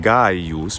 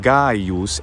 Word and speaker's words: Gaius: as a letter c which always was a voiced gu sound as in guy use but they just use